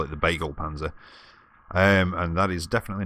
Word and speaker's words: Begleitpanzer: and yeah I know the title said big like Panzer I think that's the right the right pronunciation I just call it the bagel Panzer and that is definitely